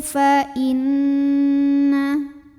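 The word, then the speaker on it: فإن: Wa tattaqu fa inna. Lalu berikutnya di sini ada hukum gunnah musyaddadah karena nunnya tasydid. Cara bacanya didengungkan. Bunyi n-nya tahan sampai ada getaran halus ke hidung.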